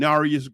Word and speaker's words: Narius: It was a brother named Narius Green. So the way you look at his name being spelled, it looked like Near East Green, but they pronounce it Narius different ways, Narius, Near East Green.